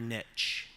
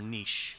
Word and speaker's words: niche: Finding your niche, or niche, depending on your pronunciation preference.